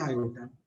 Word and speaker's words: iota: Square root के अंदर negative number not define, इसलिए इनको बोलते हैं इमेजिनरी आई, और इसको प्रोनाउंस करते हैं आयोटा।